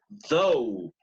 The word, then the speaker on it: though: Usually when you have GH at the end of a word, it is silent.